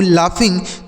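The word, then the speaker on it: laugh: यहां जी एच से घ नहीं होगा बल्कि फ हो जाएगा। लाफ मतलब हंसना होता है।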